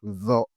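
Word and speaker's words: ظ: La lettre Sod, Sod, Sod, il faut bien prononcer. Il faut faire aussi attention avec la lettre Zo, Zo.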